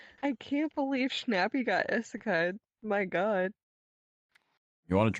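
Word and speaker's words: 異世界: Nobody knows how it's properly pronounced, alright? Mm-hmm. But Yeah, those are words. At this point, yeah, exactly. It's just Isekai. Isekai.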